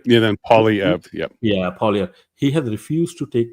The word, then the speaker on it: Poilievre: I support the Conservative parties more, but it was disappointing that, I can't pronounce his name. Pierre is the name, like Pierre. Yeah, then Poilievre. Yep. Yeah, Poilievre.